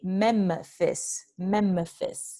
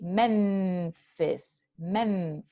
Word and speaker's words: Memphis: Si decimos, por ejemplo, la ciudad de Memphis, ¿ok? We don't say Memphis. We say Memphis.